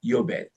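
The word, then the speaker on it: יובל: 여기도 은혜의 해라.이 은혜의 해를 우리에 히브리어로 말하면 요벨이라 그럽니다. 요벨. Y o b. 그 요배를 우리이 히브리로 쓰면은 요드 그리고 콜럼 베이스 라메드 이렇게 쓰거든요. 요베리라고 읽어요.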